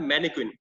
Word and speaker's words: mannequin: लेकिन स्पेशली जो उनका जो नाम है स्टैचू के तौर पे, उनको बोला जाता है मैनिक्विन। स्पेलिंग है MANNEQUIN, MANNEQUIN, मैनिक्विन।